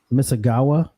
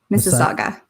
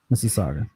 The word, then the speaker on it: Mississauga: looking at um toronto on the map okay misagawa mississauga mississauga okay uh so yeah so toronto is where